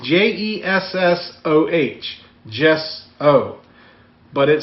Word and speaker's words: gesso: We're going to be using gesso. I gesso this is the right stuff. Why don't you just spell it the way that you're going to say it? Because it's gesso. It's pronounced Jessoh.